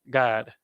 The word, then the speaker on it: Gad: that kind of endurance the tribe of God is pronounced God you have your God